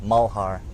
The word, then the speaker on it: Malhar: why I have a fairly unique name but Mohar okay simple so we have to show you and they it's spelled mal but you can you pronounce it